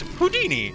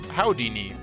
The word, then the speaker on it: Houdini: Uh, first of all, it's pronounced Houdini, not no Howini.